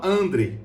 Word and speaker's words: André: grupo, que se chama André. Eu creio que seja André a pronúncia, porque não tem acento, tá? Não é André, tá? Não tem acento no E.